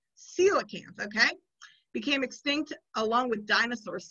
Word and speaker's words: coelacanth: they give us a how to say it coelacanth coelacanth okay became extinct along with dinosaurs 65 million years